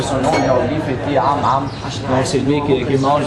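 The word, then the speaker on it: Ammit: Oh, c'est vrai, la prononciation de son nom en hiéroglyphe était Am-Am.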